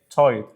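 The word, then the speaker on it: tight: على فكره يا شباب الجي اتش لو جه قبلها حرف الاي مش بنطق الجي اتش فتبقى ايه تايد مش شايف الجي اتش دي والمضاد ايه وايد برودكتف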